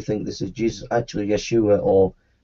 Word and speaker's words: Yeshua: Actually, Yeshua or Yeshua is how Jesus' name is pronounced in Hebrew.